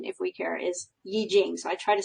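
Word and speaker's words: 易經: Chinese Yi Jing, or you sometimes hear it pronounced I Ching, because that's how it looks like it's written. I believe the correct pronunciation, if we care, is Yi Jing.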